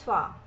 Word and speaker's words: toi: E aqui o toi, a gente tem o A de novo, o I que tem o som de A. Bien, et toi? Bem, e você? Bien, et toi?